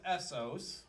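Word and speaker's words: Assos: So our last stop for tonight anyway, that's pronounced Essos.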